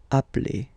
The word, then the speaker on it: appelle: You tend to pronounce it like really open.